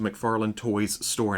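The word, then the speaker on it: McFarlane Toys: it is exclusive to McFarland toys store and I keep having to say it like that because there's an extra s in there McFarland toys store either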